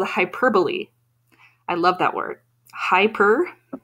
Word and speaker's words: hyperbole: that is bolli so most E's on the end of words we do not pronounce usually that me would make